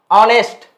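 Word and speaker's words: honest: बताओ ऑनेस्ट, इसको इस तरह प्रोनाउंस किया जाता है, ऑनेस्ट, है ना। चलो बताओ, ऑ से शुरू है, ऑनेस्ट से पहले क्या लगाओगे?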